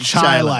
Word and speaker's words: Chili: now it's really it's spelled chili but it's pronounced chili that's one of the things with Rochester for